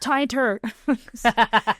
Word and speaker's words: Tainter: It's pronounced tinter.